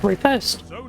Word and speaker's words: Riposte: the fum nail and title is the repost apparently actually pronounced repost it is a void